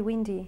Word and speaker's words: wind: though is wind now we do not pronounce it wide lined okay we pronounce it wind it's a short I forbid though okay because